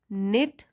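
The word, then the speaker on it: knit: Leaving the tight निट community in a state of worry. तो यह tight निट मतलब जो एक दूसरे से अच्छी तरह जुड़ा हो उसको बोलते हैं। निट यहाँ के साइलेंट है।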